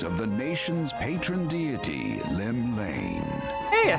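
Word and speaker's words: Llymlaen: Lone yet not alone, for the hero's arrival has drawn the gaze of the nation's patron deity, Limlane.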